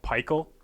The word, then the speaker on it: Pikul: studio go it's called Pikul yeah it's pronounced like pie and then skull but call yeah if because if